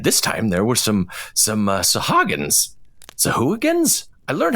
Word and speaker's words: Sahuagin: Now, at this time, there were some Sahuagins.